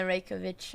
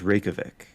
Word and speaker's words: Reykjavik: you do in the reykjavic open reykjavic did i say that correctly i think it's pronounced reykjavik but there's like a silent j in there somewhere and oh icelandic is